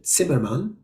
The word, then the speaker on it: Zimmerman: German and Yiddish uh Zimmerman or in the original German pronounced pronunciation simmerman is definitely not a Yiddish